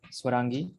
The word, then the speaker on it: Swarangi: i saying it right swarangi like saturn absolutely yes you are saying it right and for that contest